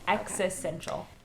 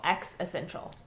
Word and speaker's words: existential: but it's okay existential you don't pronounce the T existential existential existential existential that is just say yeah just say like X and then essential X essential existential all right yeah